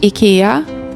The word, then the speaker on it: IKEA: We're also the home of IKEA or as we pronounce it, IKEA along with Spotify, Volvo, and the our local cheese slicer.